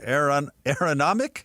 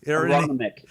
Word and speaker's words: Aronimink: Uh and how do you pronounce it? Aaron Aaronomic? Aronimink.